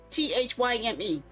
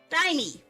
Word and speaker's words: thyme: Thyme. Thyme. Why the heck do they have an H in there if it's not supposed to make a sound? Huh? Thymie.